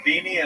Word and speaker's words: Deanie: My name is uh Deanie. And what's your name there? Timothy Poutine. Timothy Poutine. And what one more time your name? Deanie. Dei. How do you say like Jimmy Dean or sausage but Dean?